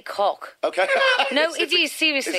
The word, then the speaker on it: Koch: 3 years ago, the Koch brothers, I think I pronounced them as, that's Koch, huge fossil... It's actually Koch.